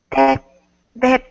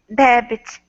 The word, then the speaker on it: debit: Cash, debt, debt to your credit card, Say it like check, this, debit. debit, That's it.